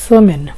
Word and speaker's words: semaine: সপ্তাহকে ফরাসিতে বলে সেমেন। সেমেন বানান হয়েছে এস এস, এম এর সাথে আ ই যুক্ত হয়েছে মে, কারণ আ ই এর উচ্চারণ কিন্তু এ হয়, এই জন্য এম এর সাথে আ ই মিলে হয়ে গেছে এ, মে।